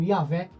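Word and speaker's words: Yahweh: Hoje, muitos estudiosos eles entendem que a pronúncia mais próxima, talvez do nome antigo, provavelmente seria algo como Yahvé.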